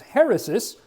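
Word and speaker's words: αἵρεσις: the Greek term, and that little curved line right there is an H sound.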